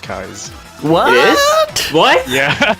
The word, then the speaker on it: Keyes: And it's actually pronounced Kai's.